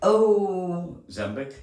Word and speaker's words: Ozempic: So, um excuse me, I don't know if I have the proper pronunciation of this, but O- Ozempic?